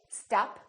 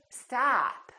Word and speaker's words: stop: this ah ah and this vowel is usually longer than most people who are non-native speakers tend to make it so don't say stop say stop stop that's impossible particularly if